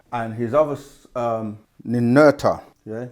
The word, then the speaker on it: Ninurta: And his other Ninurta, yeah, Nin, we say Urta, Ninurta.